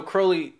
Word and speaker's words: Crowley: English occultist Aleister Crowley, or Crowley as it's actually Crowley. Pronounced.